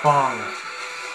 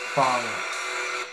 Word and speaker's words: F.A.N.G: Fawn wins. It's pronounced Fong. Fong.